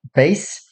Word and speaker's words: bass: a good singer so this word here is pronounced in two ways so base if you're talking about music and bass if you're